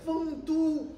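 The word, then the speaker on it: 丰都: 您说这俩字应该念丰都，不多音字吗？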